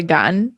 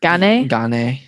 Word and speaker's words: Gane: because do people say gun gane some people yeah but i just think of it as like serial gun you got a cereal and a gun see a real gun